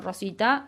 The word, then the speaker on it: Roswitha: Aparece ahí un nombre de otra mujer que se llamó Roswitha, creo que lo pronuncio bien, Rosita, de Gandersheim. Rosita. Nosotros le decimos Rosita.